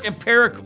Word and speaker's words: empirical: Oh, I think it's this. IMPERICAL. What was your other way? IMPERICLE. It's EM. Oh. PIRIC. Empirical. Yes. Empirical. Oh, that's embarrassing.